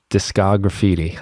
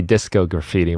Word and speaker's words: Discograffiti: to this podcast um discographiti I thought it was going to be disco graffiti when I first saw it I'm so glad you know how to pronounce it nobody does discography that's